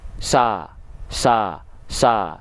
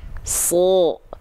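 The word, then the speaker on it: صَ: Huruf shad ketika dia berbaris atas alias berharokat fathah, maka bunyi vokalnya kan bukan sa, tapi so.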